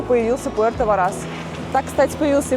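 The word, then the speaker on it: Puerto Varas: самое время уточнить что город называется именно Пуэрто Варас а у меня сильные сложности с ударениями пардоньте амигос ну что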